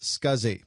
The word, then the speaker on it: SCSI: able to use it the abbreviation SCSI is pronounced scuzzy and this stands for